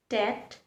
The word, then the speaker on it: debt: The letter B does not make the B sound. In fact, it remains completely silent.